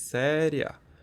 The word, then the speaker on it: séria: seria pode ver que tem uma diferença na nossa pro o a ele é pronunciado com mais intensidade o tanto I quanto o a nessa palavra pronunciado com mais intensidade do que na palavra anterior a gente disse séria A gente diz seria então a gente consegue ver que tem um hiato ali tem duas vogais na palavra seria né